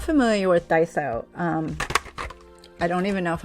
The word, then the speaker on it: Daiso: So if you're not familiar with Daiso, I don't even know if I'm pronouncing it right. It's either Daiso or Daiso, but it's Daiso. Daiso.